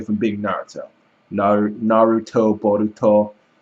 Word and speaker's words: Boruto: bolt is actually Balo because of the way it's pronounced in Japanese so it's actually if you spell it out phonetically it's actually one character away from being Naruto Nar Naruto boruto it's one character away